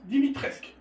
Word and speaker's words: Dimitrescu: D'accord, donc Dimitrescu, au fait ça se prononce Dimitrescu. On ne prononce pas le U, je pense.